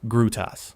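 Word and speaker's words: Grūtas: Number three, Grudus, Lithuania. Pronounced Grutas.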